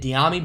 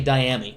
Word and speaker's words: Dyami: carolina to the saints i've been pronouncing it diami brown but it's actually dyami my apologize my apologize